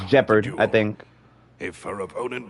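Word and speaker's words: Gepard: name like like I I think gephard is G man and has always placed great Oh Yes actually pronounced jeopard I think if her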